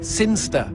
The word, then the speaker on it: Cynster: in the boring town of sin keister seen jester Cynster what it's pronounced Cynster and you know my